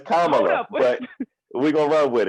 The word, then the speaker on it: Kamala: look my vice president my vice president it's kamala but we're gonna run with it so all